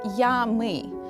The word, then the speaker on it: я, мы: The phrase is pronounced in Russian as "я, мы", and it literally means I, we.